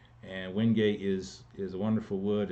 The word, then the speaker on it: Wenge: Dark one is Hoogie. It's spelled Wenge. W-E-N-G-E. And Hoogie is a wonderful wood.